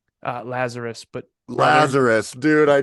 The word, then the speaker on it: Lazaros: Actually, it's Lazarus, It's Lazarus, I'm yes, not one of yes.